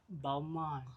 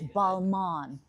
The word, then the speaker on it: Balmain: How do you pronounce the toiletries, Khairil? A Balmain? Balmain? Balmain? Balmain.